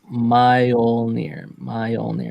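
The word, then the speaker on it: Mjölnir: It's pronounced Mjolnir.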